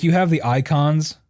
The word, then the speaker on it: Eikons: Like you have the icons, which it's spelled EIKONS, by the way, because it's just a cooler way to spell it.